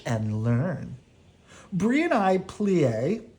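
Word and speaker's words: plié: learn Bree and I plie you say it like this plea we jeete you say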